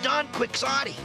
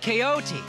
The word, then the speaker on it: Don Quixote: a good book jake call don quixote that's pronounced coyote i read that in